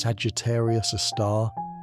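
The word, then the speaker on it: Sagittarius A*: Our galaxy's central black hole is called Sagittarius, a star, pronounced Sagittarius, a star, and it has a mass about 4 million times that of our sun.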